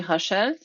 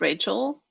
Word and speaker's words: Rachel: to pronounce the name in French it would be hashel in English I guess it's Rachel um but I don't